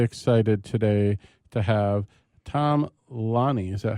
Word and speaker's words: Lanni: We are really excited today to have Tom Lanni. Is that how we're pronouncing it?